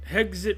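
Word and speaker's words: Hegseth: All these guys, this guy, Hegit, Hegit rhymes with exit.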